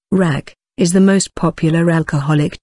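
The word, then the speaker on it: Rakı: Rak, pronounced rak, is the most popular alcoholic drink in Turkey.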